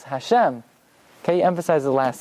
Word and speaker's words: Hashem: it's Baruch it's not Atta ATA it's not Hashem it's Hashem can you emphasize the last solo um and